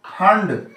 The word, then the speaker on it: Pfund: है उसको हम लोग फंड, यहां पी साइलेंट है, फंड सीरीज कहते हैं।